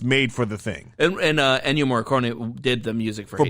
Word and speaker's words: Ennio: Neo Morricone or whatever the fuck his name is. Ennio Ennio Morricone, Yeah, yes.